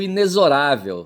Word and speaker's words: inexorável: Eu pronuncio inexorável, certo? Inesorável. Inexorável. Ineorável. tem um XO no meio, tá certo?